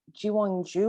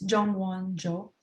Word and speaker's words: Jongwon-jo: All right, next one we have is, correct me on the pronunciation, is it Jiwon-ju, or how do you say that properly? It's Jongwon-jo.